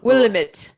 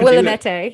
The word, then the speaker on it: Willamette: have the river uh the willamette but the people some people kind of mispronounced that um i've heard willa william william it will amante the willamette yes people like they'd